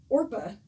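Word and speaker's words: Orpah: it about over um Oprah actually on her birth certificate it is orpa it's just people have mispronounced her name for so long that she just went with it how is it spelled o-r-p-a-h yep okay um so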